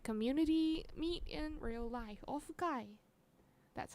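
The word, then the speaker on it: オフ会: Ofukai. That's how they say it. Ofukai.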